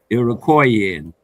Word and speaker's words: Iroquoian: Iroquoian. It would yes, be. I yes. appreciate you helping me to pronounce that word because it seems, you know, Native.